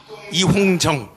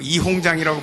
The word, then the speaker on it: 이홍정: 두 번째는 조금 지났습니다만 2021년 NCCK의 총무 이홍정, 그 중국 옛날 이홍장이 생각나서 자꾸 이홍장이라고 발음하는데, 이홍정 총무가 그때 당시 주동이 돼서 차별금지법 제정 촉구를 NCCK가 했습니다.